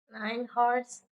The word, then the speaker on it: hours: 117 hours in validation itu enggak dibaca tuh jadi hours gitu bacanya ya Hours.